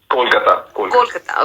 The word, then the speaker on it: Kolkata: Is it Kolkata or Calcutta? Kolkata.